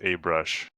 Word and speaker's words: ABrush: And it would be even easier to join once ABrush is up and running. It's pronounced a brush. A brush. Sorry. Right? Because you want to say, I use a brush.